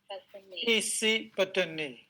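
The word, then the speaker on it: Isipatane: Isi is, you have to say isi and then patane. Isi patane. But if you, pronounce like isi patane, if you pronounce like this, it is wrong. Isi is one word, patane is one word. That is why we have to pronounce very carefully.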